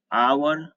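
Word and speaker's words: hour: आप देख लीजिए जो भी वर्ड्स यहाँ पे 6 वर्ड्स लिखा है ऊपर, 6 वर्ड्स में सबका एच साइलेंट होता है।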